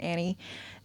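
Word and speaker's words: Anny: They are married, but their third is Annie, spelled an N y, but they pronounce it Annie, who she's from Mexico.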